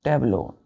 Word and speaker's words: tableau: First word बच्चों टेबलो, TABLEAU। Pronunciation क्या करते हैं बच्चों इसका? टेब्ल्यू, टेब्ल्यू, टेब्ल्यू, टेब्लो। Clear है? टेब्लो।